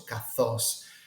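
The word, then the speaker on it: καθώς: strategic area is okay then you have an alpha a sound Theta which is a th sound and then the Omega which is a long o sound with an accent and then this is actually a sigma at the end of the of the word which is translated with an S so cathos now this is a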